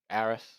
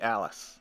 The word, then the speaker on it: Alice: dealt with getting adisu Aris man I just can't say it right it's it's supposed to be Alice okay uh anyway you